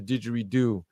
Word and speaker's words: didgeridoo: It was beautiful to witness the sound healing with the, how do you say it, didgeridoo?